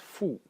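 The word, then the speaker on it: 父: element over here, which is pronounced fu.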